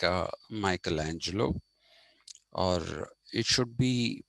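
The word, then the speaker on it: Michelangelo: certainly in the league of people like uh Michaelangelo or it should be pronounced mikeli Angelo if it take the Italian pronunciation but it's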